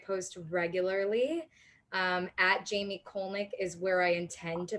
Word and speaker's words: Kolnick: roger that well jamie jamie colnick is that how we pronounce it that's it of jam with jamie